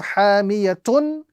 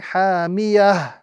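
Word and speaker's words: حامية: The rule is change the ta into ha and apply a sukoon. So when we are ending on this phrase, we are going to be reciting narun hamiyah. Instead of hamiyatun, we are going to be reciting hamiyah.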